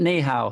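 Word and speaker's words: 你好: I learned ni hao. That was about the extent of my Chinese. Very good, very accurate, good pronunciation.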